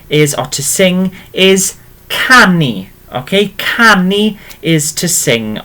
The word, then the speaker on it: canu: Okay, if we're singing, okay, so singing is, or to sing is canu.